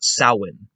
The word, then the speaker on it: Samhain: had to look it up and apparently you pronounce it as saowin but anyway that aside sawin is this festival that the ancient celts would